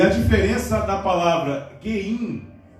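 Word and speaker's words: גים: o Mem Sufit, que tem a pronúncia de Geim. Fala assim, Geim.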